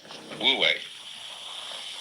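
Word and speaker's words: 無為: So the transitional word, which shows the way from to realize De in one's life, this is pronounced, this one is Wu, and this one is Wei, Wu Wei.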